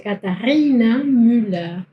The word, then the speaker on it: Katharina Müller: En alemán se pronuncia Katharina Müller. Katharina. Lo más usual en alemán es que acá haya una H.